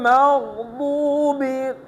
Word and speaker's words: المغضوب: গায়রিল মাগদুবি, দু, এটা দাল না, যদি দাল হয় তাহলে হবে গায়রিল মাগদুবি, দু, এটা দাল না, এটা হলো দত, আর দত হচ্ছে একদম নরমভাবে উচ্চারণ করতে হবে।